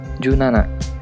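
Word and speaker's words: 十七: Nah, dan untuk angka 17 menjadi junana.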